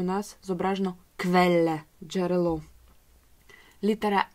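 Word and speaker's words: Quelle: Далі у нас літера Q, як у слові квеле. Зверніть, будь ласка, увагу, що ця літера, скільки я можу зараз згадати, завжди використовується у поєднанні з літерою У. І разом вони створюють звук кв.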